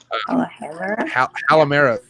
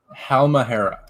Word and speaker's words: Halmahera: So Halamera. Did I say it right? Halamera? Look at his face. This is painful. Say it, Steven. Say it. Halmahera.